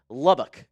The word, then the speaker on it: Lubbock: Pronounced Lubbock, LOL. I give you an E for effort, friend. Thank you, Leland Smith. All right. I'm new to all the Texas towns. Lubbock.